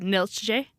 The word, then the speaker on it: Neeltje: because there's things like it's spelled Neeltje, but it's pronounced Niltje. Oh wow. At least something similar to that.